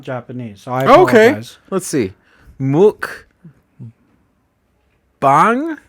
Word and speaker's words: mukbang: japanese okay let's see muk bang mukbang is how i'd want to pronounce that yeah and i think